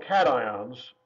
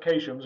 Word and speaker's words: cations: ions which are called cations not to be pronounced occasions it looks like it